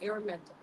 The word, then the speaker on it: Araminta: Am I saying it right? Araminta. You got it.